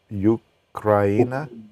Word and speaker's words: Ukraina: What was it? Ukraina? Can you say it again? Ukraina. That's how you pronounce it.